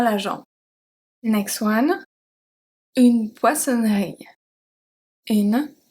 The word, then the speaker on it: poissonnerie: Une poissonnerie. Une poissonnerie.